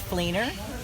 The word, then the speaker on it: Fleener: First name is, and the last name is Fleener, Fleener.